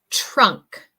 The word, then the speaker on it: trunk: And number 6, trunk. Trunk. So this pronunciation is as if it were a CH. La pronunciación de esa palabra es si fuera una CH.